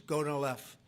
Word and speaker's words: Gonal-f: So it's Gonal-F. Is that a proper pronunciation?